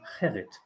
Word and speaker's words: Gerrit: But Garrett is like what Germans try to give their children as name, although the proper pronunciation is Gerrit.